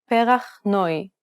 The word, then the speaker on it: perach noi: Perach noi. Did you pronounce the diphthong correctly? It's identical to the diphthong in the English word boy.